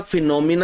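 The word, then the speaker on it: phenomena: लेकिन दोनों सूरतों में इसको प्रोनाउंस हमने क्या करना है? याद रखिएगा फिनोमिना ही प्रोनाउंस करना है। यह एस वाला वर्ड तो होता ही नहीं है। फिनोमिनंस ये तो वर्ड ही नहीं होता।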